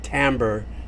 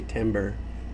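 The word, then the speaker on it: timbre: it happens to be I used to always say instead of tamber I'd say timber know you're not saying it right anyhow um but what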